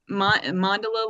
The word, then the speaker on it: Mandala: Mandala, like gondola.